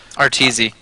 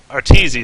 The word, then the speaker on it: Arteezy: I'm trying to figure out how they pronounce that middle guy's name. Arteezy. Arteezy, that's right.